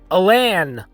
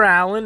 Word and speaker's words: Alan: uh mispronounced his middle name it was actually pronounced chester alain arthur no it's not chester allen it's not chester alan it's chester alain alain so that is the